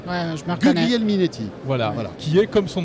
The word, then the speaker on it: Guglielminetti: Vas-y, prononce son nom parce que j'ai vraiment du mal, moi. Bruno Guglielminetti. Ouais, je me reconnais. Guglielminetti.